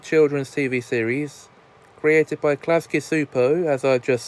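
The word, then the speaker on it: Klasky Csupo: thought I'd go back to 1991 to review klasky supos Nickelodeon classic Rugrats now cool with Rugrats is an animated children's TV series created by klasky super as I just said and yes that is how you pronounce the name for Nickelodeon First Aid on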